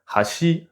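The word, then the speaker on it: 箸: Par exemple, baguette et pont en japonais, ça se dit pareil, hashi. Mais si on respecte les règles d'accent, ça se prononce pas pareil. Hashi, les baguettes, hashi le pont.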